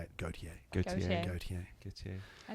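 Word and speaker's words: Gotye: That's how you say it, Gautier.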